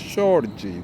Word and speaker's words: Jorge: That's Jorge. That's the Portuguese pronunciation.